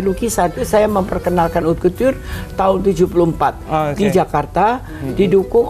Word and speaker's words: couture: Nah, menjahit dengan pekerjaan jarum tangan itu bahasa Prancisnya adalah couture. C-O-U-T-U-R-E, bacanya couture.